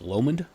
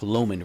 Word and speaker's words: Lomond: near the lock um I think it's pronounced Lomond l m o n d the lock Loman region Ean had heard Whispers